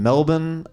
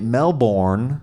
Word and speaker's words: Melbourne: I was in uh I say it like the locals Melbourne he did cuz Americans say Melborn yeah and all the local like that's not how we say it that's how they Su out of me we don't say it like that right uh so I